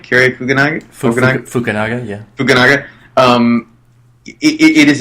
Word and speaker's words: Fukunaga: review it it moved me I think Carrie fuganaga for to pronounce it right Carrie fugenie fukunaga yeah fukunaga um it is a director's masterpiece